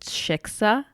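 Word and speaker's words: Xixa: It's pronounced shiksa.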